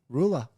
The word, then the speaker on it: Rula: Rula. Spell it R-U-L-A, baby.